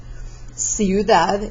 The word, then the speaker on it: ciudad: Ciudad is the word for city, followed by an I, so it's an S sound.